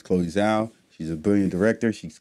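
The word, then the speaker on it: Chloé Zhao: african americans so um i apologize for getting your name wrong her name is chloe zao she's a brilliant director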